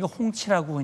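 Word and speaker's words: 红旗: 그런데 지금 중국 이번에 공개한 HQ209에 중국은 홍치라고 이제 발음을 하는데 홍치 29 같은 경우는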